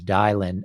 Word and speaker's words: Dylan: So now that we know that your name is Dylan and it rhymes with Kylin, so where did you get the name Kylin?